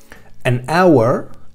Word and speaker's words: hour: Fijaos que cuando yo pronuncio estos dos sintagmas, an hour, no estoy pronunciando la H.